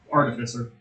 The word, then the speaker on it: artificer: pronounce that word right you stress the a artificer AR arer sorry I